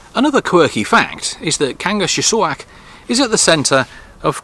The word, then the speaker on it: Kangerlussuaq: What is the correct pronunciation of the town? It's difficult in English. Kangerlussuaq. Kangerlussuaq.